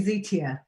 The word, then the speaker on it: Zitia: It's actually Zitia. That's how you pronounce my name, not Zita.